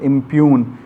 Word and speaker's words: impugn: This is not impugn, this is impugn. G is silent and it sounds impugn. But here in expungible, it is sounding, as Pung.